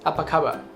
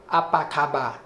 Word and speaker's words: apa khabar: Apa khabar?